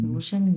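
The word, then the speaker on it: 独生女: 上， তু, 嗯 হ্যাঁ তুশেননু, তুশেননি, 嗯， তুশেননি, 独 হ্যাঁ আমি আবার নু উচ্চারণ করছি, নিউ না, এটা হচ্ছে নি, তুশেননি।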